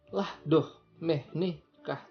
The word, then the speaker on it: La domenica: Tapi cara bacanya lah doh nikah andavamo dalla nonna.